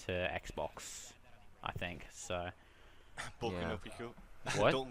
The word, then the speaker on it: Boku: It's BOKU.